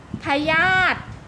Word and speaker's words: พยาธิ: อุ ไม่ ออก เสียง พยาธิ สระ อิ อิ ไม่ ออก เสียง ภูมิ ใจ สระ อิ